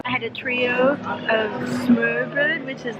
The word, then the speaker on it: smørbrød: How do you pronounce it again? Smørbrød. Smørbrød.